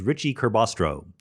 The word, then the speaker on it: Ricci-Curbastro: his first name, but his last name was Ricci Curbastro. Ricci-Curbastro. That was his last name. It was a compound name. For some reason, when Ricci Curbastro wrote his famous article where he explains how